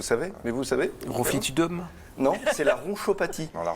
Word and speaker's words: ronchopathie: Non, c'est la ronchopathie. Non, la Roncopathie.